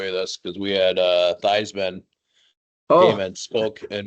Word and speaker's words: Theismann: He's like, yeah, my whole life I was Thiesman, and then my dad said that doesn't Theismann. rhyme. Yep. That doesn't Yeah. rhyme with Heisman.